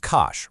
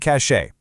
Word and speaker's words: cache: It's just cash, rhymes with smash. Try to avoid cachet.